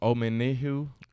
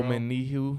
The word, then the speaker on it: Omenihu: And then we picked up Charles Omenihu. Is that how you Yeah, pronounce I think it? you're pretty spot on with that name, bro. Omenihu Yeah.